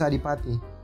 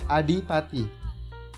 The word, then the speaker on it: Adipati: name my name is alipati well how do you say it adi pati alipati no within within d d adi adipati yeah that's right hi